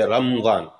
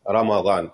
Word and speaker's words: Ramadan: They say Ramadan. And that's not the correct pronunciation, actually is with the fatha. It's Ramadan, as it is mentioned in the Quran.